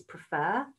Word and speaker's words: prefer: In the word preferring and preferred, the root word is prefer, prefer, prefer. 2 syllables.